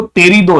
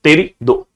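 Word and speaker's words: Pterido: पे क्या आएगा देखो टेरिडो, याद रखो टेरिडो, ऐसे याद रखोगे तो भी याद हो जाएगा, पी साइलेंट है।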